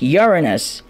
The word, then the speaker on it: Uranus: to pronounce appliance saying it's not Uranus it's Uranus and yes it does sound